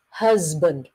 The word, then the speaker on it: husband: So it's husband, z sound. Chứ phải là husband, ok? Không phải là chữ s nha. Đánh vần thì chữ s. Nhưng mà when you pronounce it, it's a z sound.